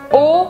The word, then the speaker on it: aux: E esse o se escreve A-U-X. A-U-X. Mas a pronúncia eu não falo esse X. Eu pronuncio o.